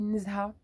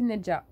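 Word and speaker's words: Nezha: Ben, moi, je le lis Nzha. Parce qu'en arabe, c'est Nzha. C'est un prénom, je connais des gens qui s'appellent Nzha. J'ai plein de gens dans la famille qui s'appellent Nzha. Donc, moi, je le prononce Nzha et c'est absolument pas le cas. Donc, c'est Nedja.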